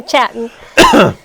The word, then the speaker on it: Chattin': So You got to pronounce the G on the end, right? Yeah, there is no G. It's Chattin. So Chattin.